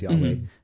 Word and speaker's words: Yahweh: Yeah, it's the Hebrew word Yahweh, or how we would pronounce it as Yahweh, the holy name of God.